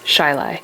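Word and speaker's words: Chili: is spelled Charlotte and another area called Chile which is pronounced shilai so I think this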